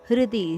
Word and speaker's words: ಹೃದಿ: ಸರ್ವಸ್ಯ ಚಾಹಂ ಹೃದಿ ಸನ್ನಿವಿಷ್ಟೋ ಹೃದಿ ಹೃದಯದ ಹೃ ಹೃದಿ ಹೃಷಿಕೇಶ ಹೃದಯ ಅಂತ ಹೇಳುವಾಗ ಹೇಗೆ ಹರ ಅಲ್ಲ ಹೃ ಹೃದಿ ಸನ್ನಿವೇಶ ವಿಷ್ಟೋ ಷಟ್ಕೋನದ